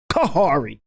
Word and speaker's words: Khary: day what you mean my name isn't kari he said it's actually pronounced kahari i'm like kahari he